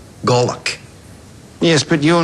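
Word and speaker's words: golok: gollock in the military it's called a golock g o l o k pronounced gollock yes but you're not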